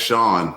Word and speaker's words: Sean: Hey, Pat, it's Sean, like Sean Connery. Yeah, it's spelled the exact same.